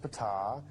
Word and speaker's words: Ptah: While he was there, he got to meet Ptah. That's pronounced Ptah.